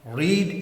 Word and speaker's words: read: और रीड की जो वर्ब की फॉर्म्स बनती है वो रीड रेड रेड। Spelling same रहते हैं। सिर्फ प्रोनंसिएशन चेंज होता है।